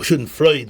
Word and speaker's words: Schadenfreude: But this concept of Schadenfreude, when a person, or Schadenfreude, whichever one people pronounce it, this is something which